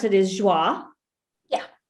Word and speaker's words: Joie: you pronounce it is joi yeah right this is french and for everyone for everyone listening that is spelled j o i e so if you